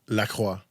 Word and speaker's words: Lacroix: So it's spelled like the water company that's not that popular anymore. But when he pronounced it like a Canadian, say it again for all the people at home. Lacroix.